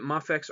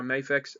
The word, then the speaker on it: Mafex: of those now with mafix or mayfix again whichever way you want to pronounce it they are generally late